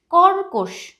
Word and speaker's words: কর্কশ: কর্কশ, কর্কশ বন্ধুরা, কর্কশ। এখানেও কয়ের মাথায় রেফ আছে তাই এই কয়ের আগেও কিন্তু একটা রয়ের উচ্চারণ আসছে, কর্কশ উচ্চারণটা।